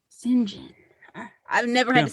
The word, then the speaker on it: St. John: You pronounce it as Singhen. Mhm. It's spelled St.